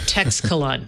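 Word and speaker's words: Teixcalaan: They call it Texcalan. Texcalan? They say Texcalan.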